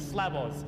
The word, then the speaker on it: Slavos: He goes, "Do you want me to say my name so you know how to say?" I'm like, "Yeah, do that." He's like, "It's Slabos."